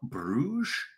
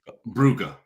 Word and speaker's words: Bruges: And then on Wednesday, we're doing Sporting Libsyn versus Club Bruges or Brugge, depending on how you pronounce it.